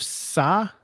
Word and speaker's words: Tsai: New York Liberty owner, let me say his name correctly. It's TSAI Joseph Sa. I would think it's Sa.